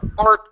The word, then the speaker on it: art: body parts the hearts you need to remove the H you cannot pronounce a vowel at the beginning with an H at